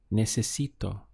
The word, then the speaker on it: necesito: Necesito. So we have ne, se, si, to. 4 syllables.